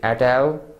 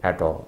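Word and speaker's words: et al.: L or at polish pronounced in both ways some say at al some say at all it's Latin expression which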